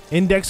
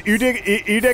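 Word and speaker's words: Iudex: Index Gundry? Yeah. Yes, it's Udex Fuck that Gundry.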